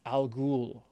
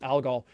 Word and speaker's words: Algol: demon the demon star in arabic that would be al ghul now we now we pronounce it algol that star got brighter